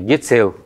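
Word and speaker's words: гецл: Видите, как написано 4, а как произносится опять? Гецел, Е идет.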